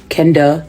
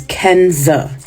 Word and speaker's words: Kenza: letters five two syllables I've been called Everything But my name over the course of 35 years Kenda Kendra Kenya K Quanza Zena my name is Kenza these long 15 letter